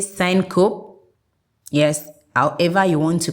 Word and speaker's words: syncope: You can say syncope, yes, however you want to call it, is spelled capital SYNCOPE.